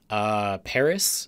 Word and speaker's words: PVRIS: else do I like Paris is an artist I've liked lately it's spelled pvris apparently because of copyright or